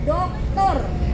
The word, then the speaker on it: doktor: Ada lagi satu gelar yang depannya kapital, kalau tidak salah huruf kapital D sama R, dibacanya doktor.